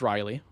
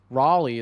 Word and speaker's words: Riley: Actually, in real life, my name is Riley. Raleigh is just how people down south pronounce it.